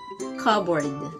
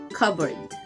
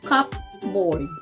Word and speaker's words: cupboard: like plates and balls the p is silent again the word is cupboard second word please read